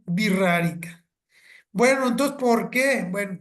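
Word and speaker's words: Wixárika: realidad os son wirrarica se escribe wixarica con x con w y x con acento en la a wixarica pero se pronuncia birrarica Bueno entonces por qué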